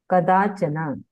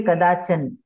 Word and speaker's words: कदाचन: बोलना है पाशात पाशात कदाचना कदाचना है ना हिंदी में हम बोलेंगे कदाचन पर संस्कृत में पूरा उच्चारण होता है कदाचना ओके ओके गुड वेरी